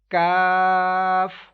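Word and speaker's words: ك: to three second cough next calf this letter will be pronounced with whistle sound uh with thin sound cuff next letter is lam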